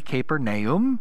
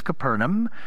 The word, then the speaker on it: Capernaum: As I've shared with you before, if we were to pronounce it correctly, it'd be Capernaum, but everybody knows it is Capernaum.